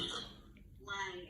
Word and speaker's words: Lange: Lange or Lange? How do you like to pronounce it? Lange, L-A-N-G-E.